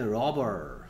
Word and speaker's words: robber: 그 다음에 robber. 그러니까 이 우리가 이제 한국 사람들이 L 발음하고 V 발음하고 이거를 뭐 R하고 B하고 비슷하기 때문에 lover 이렇게 하면 이건 뭐예요?